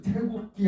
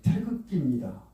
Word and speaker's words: 태극기: 그래서 태국기 하면 그건 발음이 틀리고 틀리게 알고 있는 반드시 당신 국기가 뭡니까? 태극기입니다.